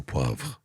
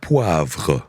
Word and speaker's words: poivre: You're going to have a little pot of au poivre.